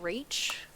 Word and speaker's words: Rach: I am Rach. That is how that's pronounced.